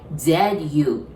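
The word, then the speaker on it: づ: It's supposed to be like D-U, which is do, but we pronounce it like Z-U, zu. So this zu, and then this zu from the Z line, they are actually exactly the same pronunciation, all right?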